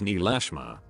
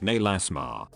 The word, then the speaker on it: Neelasma: It's Neelasma. In German you could pronounce is like Nelasma, which would mean nah, let's not.